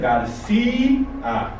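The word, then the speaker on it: García: But we carry an accent to break the diphthongo and pronounce it Garcia.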